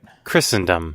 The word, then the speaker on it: Christendom: Christendom as a concept is it Christendom or Christendom I don't think you pronounce a t right oh also bitching about content on stream gets you an automatic 3mon F the worldwide body oh wait Christendom Christendom there is no T pronunciation okay Christendom is a